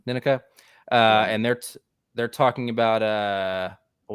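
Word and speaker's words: Nneka: that Cody, Jesse, and is it Ninika? Am I pronouncing it right? Yeah, Ninika.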